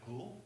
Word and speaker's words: Kuhl: Joe Peters with Jeff cool and it's Kay uhm yes sir and it's pronounced like the word cool correct okay Sherman Sherman